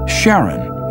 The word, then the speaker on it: Charon: in greek mythology but preferred to pronounce it sharon more like his wife's name charlene from the motions of pluto and charon astronomers could work out